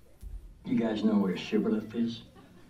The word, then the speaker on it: shibboleth: And says the good book, the Gileadites said shibboleth, the Ephraimites said sibboleth. So if he said sibboleth, not being able to give the proper pronunciation, they would seize him